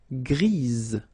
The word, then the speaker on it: grise: for the feminine form, grise. Remember? Grise. Alright? So when you add this E, basically it gives you the pronunciation or the possibility to pronounce the previous letter here. It's Z. Grise.